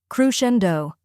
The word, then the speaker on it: crescendo: a softer uh sound next is Shen which rhymes with hen finally we have D which sounds like dough as in bread d now let's put it all together crushendo try repeating after me